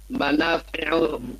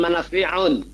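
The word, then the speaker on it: منافع: Fihi, di dalamnya, Manafi'u katsiratun. Bacanya manafi'u, jangan manafi'un. Ya, tidak ada tanwin dia.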